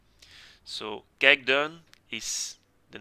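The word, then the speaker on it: Kijkduin: one even though the name is very short gag done so gagdan is the name of a small village in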